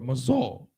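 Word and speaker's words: מזל: Mazal, okay, because that's actually how you would say that word, mazal, mazal.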